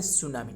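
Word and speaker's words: tsunami: world सुनामी डे यानी TSU या silent है, वर्ल्ड सुनामी डे यानी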